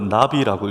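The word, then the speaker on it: נביא: 선지자는 히브리어로 나비라고 읽습니다.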